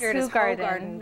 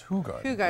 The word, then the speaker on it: Hoegaarden: And now I know a lot of people have been mispronouncing this for for a long time. It is Hoegaarden, right. So it's Hoegaarden. It's kind of like Horton Hears a Who.